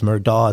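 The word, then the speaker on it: Murdaugh: everybody says his name it's Alec it's Alex it's murdog it's murdog well it's going to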